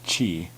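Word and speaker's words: ち: toll again there's exceptions there's no t sound its chi and there's no to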